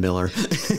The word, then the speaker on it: Mueller: And for those who are unfamiliar with the Mueller neighborhood, and yes, it is pronounced both ways, Mueller and Mueller.